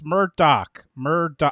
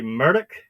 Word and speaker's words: Murdaugh: I've this entire time, and it's Murdaugh, like D-O-C-K, Murdaugh, and I got that right?